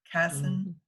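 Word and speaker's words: Kassan: I think he pronounces that different. Casson is how he actually pronounces his name.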